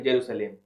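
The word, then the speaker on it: Jerusalem: की कैपिटल है यरूशलेम यरूशलेम स्पेलिंग बोलते हैं लेकिन स्पेलिंग में अलग होता है that is जे ई आर यू एस ई एल ई एम जेरूसलम ठीक है उसके बाद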